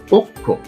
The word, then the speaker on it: কক্ষ: এখানে কোটা ও ওর মতো উচ্চারণ হবে এবং ক্ষয় এর জন্য কক্ষ, এটা আমরা আগেই বলেছি। তো এর সঠিক উচ্চারণ হচ্ছে কক্ষ।